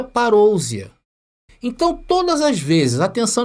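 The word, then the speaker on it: παρουσία: vinda então ali está no original em grego se pronuncia parouzia então todas as vezes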